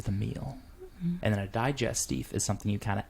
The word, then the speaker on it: digestif: Digestive. Digestif, that's how they say it. Digestive. Digestif. It's how you say it.